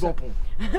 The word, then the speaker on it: Ben Pon: La légende raconte qu'en 1947, l'importateur néerlandais de Volkswagen, Ben Pon ou Bampon, on s'en fout comment ça français, se prononce. Français, c'est Bampon. Bampon en français, voilà.